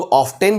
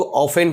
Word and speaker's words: often: OFTEN, उससे कुछ लोग ऑफ्टेन भी बोलते हैं, कुछ लोग ऑफेन भी बोलते हैं। मगर करेक्ट प्रोनाउंसिएशन ना कि प्रोनाउंसिएशन, PRONUNCIATION, प्रोनाउंसिएशन, उच्चारण, तलफ़ुज़, स्पेल्ट, एसेंट, आप कुछ भी कह लीजिए। तो करेक्ट प्रोनाउंसिएशन ऑफेन है, ऑफ्टेन नहीं।